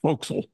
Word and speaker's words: forecastle: she's not and by the way Forecastle is pronounced Fel in the Navy folks listening or watching would